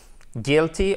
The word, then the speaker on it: guilty: Alors, guilty, on ne prononce pas le U, ok?